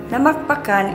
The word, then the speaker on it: Namacpacan: Namacpacan is the original name of the town of Luna and is an Ilocano word with an accent on the last syllable meaning one who feeds.